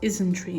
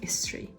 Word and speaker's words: Isntree: And it's pronounced Isntree instead of Istri.